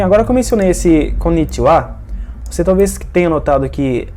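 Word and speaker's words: こんにちは: Bem, agora que eu mencionei esse konnichiwa, você talvez tenha notado que, apesar de esse caractere final ser o ha, eu pronunciei ele como wa.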